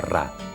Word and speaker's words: Ra: Champollion sabía que en copto el nombre del sol en el antiguo Egipto se pronunciaba Ra.